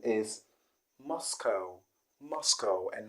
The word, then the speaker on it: Moscow: number 13 is a city in russia and many people do call it moscow moscow because of the spelling cow but i want you to know that the correct pronunciation is moscow moscow and not moscow